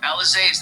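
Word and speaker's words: Élysée: Elysee? Alizé, that's it.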